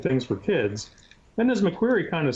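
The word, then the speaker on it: McQueary: But the question I have in my head that I can't get around, okay, is this guy McQuarrie. Am I pronouncing that correctly, McQuarrie?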